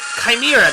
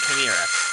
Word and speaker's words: chimera: Chimera, that's how you say it, Chimera.